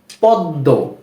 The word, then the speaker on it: পদ্ম: হবে বা দুইবার হবে কি বললাম যদি কোন শব্দের মাঝখানে বা শেষে কোন বর্ণের সাথে ম ফলা চলে আসে তাহলে যেই বর্ণটির সাথে ম ফলা আসলো সেই বর্ণটির উচ্চারণ দুইবার হবে যেমন পদ্ম এই যে এই পদ্ম